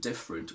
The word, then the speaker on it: different: person and their accent in words like separate favorite and different we basically always remove the schwa i can't remember ever